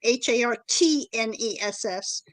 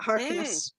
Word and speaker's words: Hartness: They are, especially since John's name is Hartness, not Harkness. That's right. It is a T.